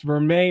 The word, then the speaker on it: vermeil: now vermeil necklace now i had to ask natasha how to pronounce it because apparently it's french but it's a golden boss vermeer necklace and a b